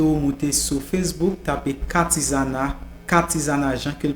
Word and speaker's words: Katizana: OK, Katizana c'est K-A-T-I-Z-A-N-A en créole, j'en prononce qui c'est K-A-T-I-Z-A-N-A.